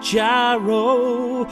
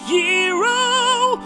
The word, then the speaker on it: gyro: He's going to get a gyro, although it's technically pronounced hero. Although I still wanna call it a gyro, cause it sounds cooler.